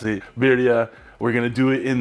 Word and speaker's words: birria: ernie knows what's up he knows how to pronounce it viridia we're gonna do it in the ninja foodie